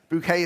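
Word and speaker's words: Bucket: Bouquet is spelt B-U-C-K-E-T.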